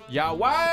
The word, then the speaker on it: Johan: Or should I say Johan? Yawan. If you want to say it correctly, it's Johan.